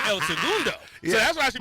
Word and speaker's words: El Segundo: I would say like El Segundo. So what's the correct way to say it? Segundo. So I should be saying El Segundo.